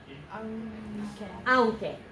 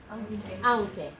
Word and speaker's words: aunque: My second one is 2 syllables. The QUE is ke. Aunque. Aunque. Okay, aunque.